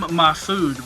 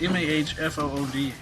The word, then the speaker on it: Mahfood: Is that Scotty Young and Jim Mahfood or Mahfood? How do you say his name? How's it spelled? It looks like Jim Mahfood, but it's Mahfood.